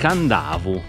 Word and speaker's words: Kadavu: Voici l'île de Kadavu (prononcer Kandavu).